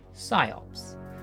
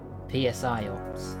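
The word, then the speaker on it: Psi-Ops: Scops, the mindgate conspiracy, or as my younger self pronounced it, PSIOPS.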